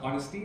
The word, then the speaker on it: honesty: And the word ours, honesty, it's not pronounced as ours but honesty, because the letter H is silent.